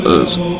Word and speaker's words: Uz: Uz, misspelled Uzi, Uz, or Uz. I think it's pronounced Uz, since it's spelled out U-Z.